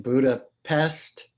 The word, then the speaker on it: Budapest: from her apartment in Budapest. Budapest. She says Budapest. No, Yeah. it's Budapest. Right. You know, so that's the Hungarian pronunciation.